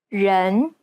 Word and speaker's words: 人: Many people tend to mispronounce the E sound in the word people. They commonly substitute it for the English E, as in red. This is incorrect. The Chinese E sounds more like an sound. 人 It's identical to the E sound at the end of the word problem.